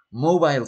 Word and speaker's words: mobile: Mobile phone, no es móvil, se pronuncia mobile y se escribe mobile.